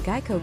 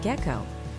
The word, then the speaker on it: Geico: People kept calling Geico Gecko.